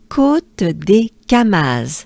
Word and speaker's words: Côte des Camas: So, yes, we have côte, côte, and to pronounce the whole name, it goes a bit more côte, côte, côte des. I know, sometimes it's de, sometimes it's du. Here it's des, and the reason why